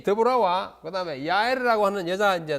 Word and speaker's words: 드보라: 드보라는 여자 사사해요 뭐 미국에서는 데보라 이렇게 발음하죠 예 히브리 말로 보라입니다 드보라 그다음에 기드온 아비멜렉 돌라 야일